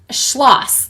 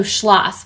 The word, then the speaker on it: Schloss: and she said uh the word schloss is pronounced like ross so schloss with a quick o and pronounce the s oh you're the best